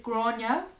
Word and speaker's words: Gráinne: It's Gráinne, but it's spelled like Granny.